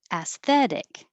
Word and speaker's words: aesthetic: Aesthetic. This is a difficult combination from the S to the TH. Aesthetic.